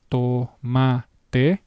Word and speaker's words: tomate: It is the same pronunciation as the English equivalent practically. to and by that I mean the actual consonant. I'm talking about the consonant. It's the same sound to.